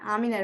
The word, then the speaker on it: Amine: Amine, right? Did I say it right? Yes.